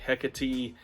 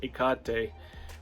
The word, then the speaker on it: Hecate: pronunciation of sad goddess I've heard hecatee Hecate and so forth and I pronounce it ikate which is closer to the Greek uh pronunciation I like to